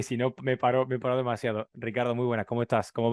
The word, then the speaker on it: Ricardo: Bueno, don Ricardo Cataluna, es la primera vez y la única que lo voy a pronunciar bien tu nombre, porque ya sabes que me cuesta horrores meter esa R portuguesa, ese Ricardo.